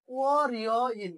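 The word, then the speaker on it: 월요일: তাহলে ও রিয় ইল উচ্চারণটা কি হয়ে যাবে?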